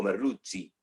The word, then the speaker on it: Merluzzi: ya está en contacto, o Merluzzi, para pronunciarlo correctamente, que ya está en contacto con nosotros.